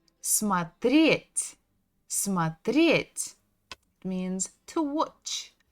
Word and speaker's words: смотреть: Next one is смотреть. Ударение на «е». Смотреть.